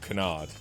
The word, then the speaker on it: Canard: where the last half is pronounced almost like duck. Oh, canard. Yeah. Sorry, I thought you were saying it was pronounced like duck as in the word duck, not the French word for duck.